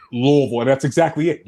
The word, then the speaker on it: Louisville: idea what you're saying louisville and that's exactly it you have to say it like you have a mouthful of louisville louisville is how you say it just a mouthful of stuff can i just say